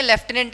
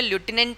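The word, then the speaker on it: lieutenant: लटिनेंट जो होता है जैसे लेफ्टिनेंट अपने बोल देते हैं। उसकी एग्जैक्ट जो स्पेलिंग है वो बतानी जो करेक्ट स्पेलिंग है क्या बोलते अपने लेफ्टिनेंट है लेकिन एक्चुअल में लटिनेंट होता ही उसकी जो सही स्पेलिंग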